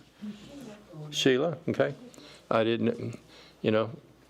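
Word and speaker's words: Shelah: Air anan I don't know may I ask my phonics teacher how would you pronounce sh h e l ahila sheila okay I didn't you know when you've used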